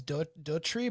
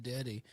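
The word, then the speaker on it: Docherty: Her last name is Dory, but a lot of people have been pronouncing dirty.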